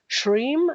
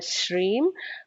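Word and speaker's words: श्रीं: potent so shreem uh just pronouncing it correctly not as shreem not as shreem uh but a shreem uh very beautifully is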